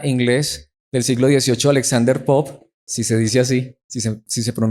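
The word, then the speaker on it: Pope: con el poeta inglés del siglo 18 alexander popp si se dice así sí sí se pronuncia así el a como una frase muy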